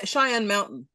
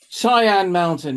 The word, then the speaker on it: Cheyenne Mountain: Cheyenne Mountain. Cheyenne Mountain.